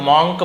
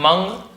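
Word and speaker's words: monk: बहुत से लोग मक बोलते हैं बट मंग सही उच्चारण है बट आप मंग भी बोल सकते हो।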